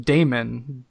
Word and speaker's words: daemon: You know, it's interesting too that you're making a video game based off of demonology, because there's a Greek interpretation of demon that's pronounced daemon, D-A-E-M-O-N.